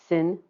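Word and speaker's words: 辛: And these are pronounced jia, yi, bing, ding, and I'll try to be very careful with those two because they're very close together in pronunciation. Wu, ji, geng, xin, ren, and kui.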